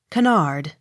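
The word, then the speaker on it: Kennard: on last syllable k-e-n-n-a-r-d canard accent on last syllable k-e-r car k-n-o-l-l-y-s knowles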